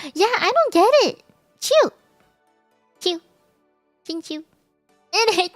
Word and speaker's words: Qiu: Oh, and not phonetically xing qiu. Yeah, I don't get it. Qiu.